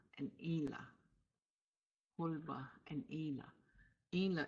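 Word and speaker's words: inla: Ela hulba and Ela Ela is spelled i n l a following the rules for writing nasalization before TCH hnl nasalization is written as the letter and and again just to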